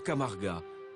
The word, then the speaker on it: Camarga: lève sur la Camargue en occitan cela se prononce camarga un marécage de 140